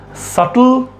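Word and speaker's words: subtle: यहां पर बी क्या है? साइलेंट है।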